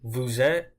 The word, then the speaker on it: vous êtes: Vous êtes, I didn't pronounce the S there, as you can see.